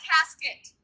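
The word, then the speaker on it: casquette: Now, their little dowries were put into small boxes that were called cassettes, and it's spelled C-A-S-Q-U-E-T-T-E, and our very English-speaking people down here pronounce that casket.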